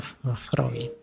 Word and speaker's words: Freud: yang terkenal dengan psikoanalisisnya tulisannya Freud bacanya freid Awas keliru cara bacanya tapi ya ndak apa-ap l cuma salah mengecekkan ndak apa-apa Kalau kalian terbiasa fre ya ndak apa-apa sama seperti